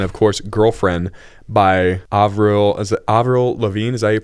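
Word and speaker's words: Lavigne: on shuffle and of course Girlfriend by Avril Avril Lavine is that you pronounce it there you go Sam's fired that's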